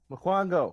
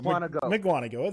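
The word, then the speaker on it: Mukwonago: PJ, how do you pronounce this city? Miquango. There we go. Miquango.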